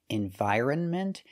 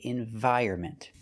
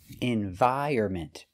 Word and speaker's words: environment: two pronunciations you'll see environment and environment and we don't say either one the N is silent so with this word we cannot trust the dictionaries we say environment environment the stress is on